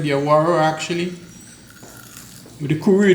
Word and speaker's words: awara: Awara. Awara. Awara, spell it.